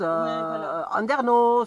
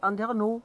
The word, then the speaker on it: Andernos: autour du bassin d'Arcachon, c'est Biganos, Andernos. Mais il y a beaucoup de régions en France où on ne prononce pas la dernière lettre. C'est donc c'est Andernos, c'est Biganos.